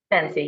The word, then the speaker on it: Zensi: Zenzi.